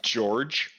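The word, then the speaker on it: Djeorg: you go and see George George uh just to remind everyone that is spelled DJ e o r g George George George I love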